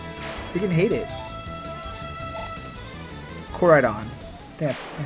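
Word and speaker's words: Koraidon: Corridon. That's how you pronounce it.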